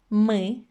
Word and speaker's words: мы: As you can see, ты, мы, вы have a weird sound in the end.